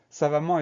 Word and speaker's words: savamment: Première syllabe, ça va s'écrire avec un S pour avoir le sens. Donc S-A. La syllabe va, tout va bien, ça va s'écrire V-A. Ensuite, la dernière syllabe, ment. on va avoir deux M. Et ensuite, on va avoir le son en qui s'écrit EN et avec un T final muet.